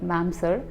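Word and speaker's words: mamser: So in itself the word is spelled as M-A-M-S-E-R, like ma'am sir.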